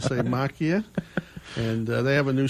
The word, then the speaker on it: Macchia: Rajan noise and the Crick's masya sounds good to me and that's how he pronounced it all the time macchia and they have a